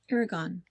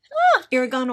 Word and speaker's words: Irrigon: And by the way the town of Irrigon where I live is pronounced Ira like irrigation and gone like in Oregon. Irrigon. Irrigon, Oregon. Irrigon, Oregon.